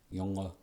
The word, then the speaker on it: Junge: Like German Junge, spelled with a J, Junge.